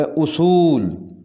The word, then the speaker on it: اصول: ہوگا متاثر، متاثر۔ اصول، صحیح تلفظ ہے اصول، الف کے اوپر پیش آئے گی، اصول، اصول۔ تشیع، تشیع،